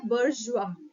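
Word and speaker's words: bourgeois: आई ओ एस आई लेकिन इसका जो प्रनंसीएशन है वो है बुर्ज जुआ आप इसको गूगल पे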